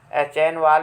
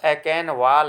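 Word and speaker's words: Achenwall: श्रेय जर्मन विद्वान गॉटफ्राइड एकेनवाल, देखिए इसको एचेनवाल भी पढ़ते हैं चूँकि CH स्पेलिंग इसकी होती है, और एकेनवाल भी पढ़ते हैं, ये थोड़ा सा यहाँ अशुद्धि है, यहाँ पर एकेनवाल है, गॉटफ्राइड एकेनवाल।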